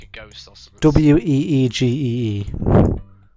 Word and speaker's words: Ouija: Weegee. It's spelled O-U. Like the old meme. I-J-A, and you're supposed to pronounce it Ouija.